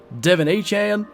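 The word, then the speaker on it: De'Von Achane: look good Tyree kill Devon a Chan I believe that's how he wants his name to be pronounced now Raheem moster I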